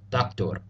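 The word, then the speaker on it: دكتور: be familiar with doctor it's pronounced the exact same way except typically with a bit of a roll on the final R doctor the next word is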